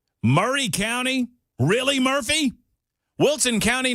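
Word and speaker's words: Maury: to a county that doesn't know how to pronounce itself. Murray, because it's spelled different. It's spelled Mory County, right? Like uh like like Mory Povich. Yeah. But it is pronounced Murray.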